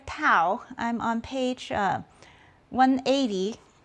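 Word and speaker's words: tau: The torque is expressed by the Greek letter toao. I'm on page uh 180. So the torque in physics and and then don't forget that that Greek looking t is pronounced toao.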